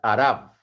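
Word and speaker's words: אַרְבֶּה: Sucede que la palabra langosta en hebreo se pronuncia arab.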